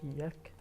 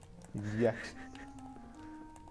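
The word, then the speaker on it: Jaq: It's pronounced Yek. Yek. I mean, he is kind of like Spanish sounding.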